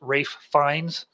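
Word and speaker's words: Ralph Fiennes: off I want to say to Adam it's pronounced Rafe fines he'll know what that means because uh he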